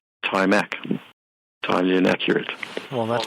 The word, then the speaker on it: Timac: And that's an A, Timac. I have to be careful about my accent. A for Apple. Yeah. It sounds kind of like Apple, Mac, but okay.